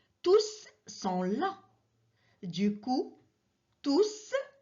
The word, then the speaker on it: tous: Du coup, tous est un pronom à la fin duquel le S est bien prononcé.